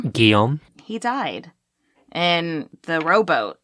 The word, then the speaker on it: Guillaume: Sadly, her son, Gilly, or how do you say this name? Guillaume.